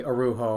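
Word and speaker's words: Araujo: name right that's a-r-a-u-j-o I have a friend named Corey arujo and that's how he pronounces his name so I'm assuming you're the same and you can find him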